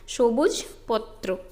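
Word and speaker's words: সবুজ পত্র: ये बंगला प्रोनाउंसिएशन है, सोबुज पोत्रो।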